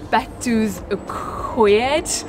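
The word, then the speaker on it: Betws-y-Coed: and again I'm trying to remember how you pronounce this place, Betws Y Coed.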